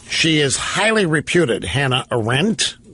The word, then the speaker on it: Arendt: She is highly reputed, Hannah Arendt. Some people pronounce it Arendt.